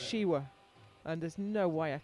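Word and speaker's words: Siła: a Polish owner and I've always called it Sila I've recently learned that it's uh pronounced shiwa and there's no way I can get that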